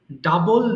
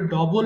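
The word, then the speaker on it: double: করা discover ডিসকভারড ডিসকভারড ডাবল দ্বিগুণ করা দেখো এটাকে অনেকে ভুল করে ডবল বলে হ্যাঁ ডবল কিন্তু সঠিক উচ্চারণ নয় কি বলতে হবে ডাবল ডাবল আচ্ছা এবার বলো ডাবল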